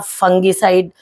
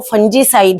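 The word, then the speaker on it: fungicide: तो मेरे को कई लोग कमेंट करते हैं आपको बोलना भी नहीं आता, आप फंगीसाइड बोला करो, आप फंजीसाइड क्यों बोलते हो। तो करेक्ट प्रोनाउंसिएशन जो है वो फंजीसाइड ही है।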